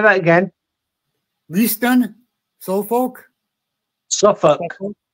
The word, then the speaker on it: Suffolk: Leisten Suffolk. Sorry, say that again. Leisten Suffolk. Suffolk. Suffolk. Okay. Suffolk. We pronounce it Suffolk, Norfolk.